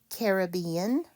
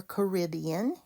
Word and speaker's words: Caribbean: Caribbean or Caribbean, you can pronounce that either way.